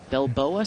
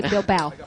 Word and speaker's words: Bilbao: say hi from uh Bilboa Spain i hope I pronounced that correctly enjoy watching the Bilba bilboa Spain bilbo i would say Bilbao that's how I would say it bilbao there we go